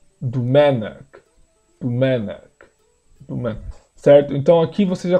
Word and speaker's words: Domènec: Esse o aqui, primeiro você pronuncia u, ok? U mesmo. Isso é algo que começou lá no século, já em 1500, mais ou menos. Já começou essa incerteza de como se. Não incerteza, a pronúncia do O foi se tornando um pouco mais neutra, que eles chamam, tem uma neutralização, né? Então, em vez de ser Domenic, é Domenic.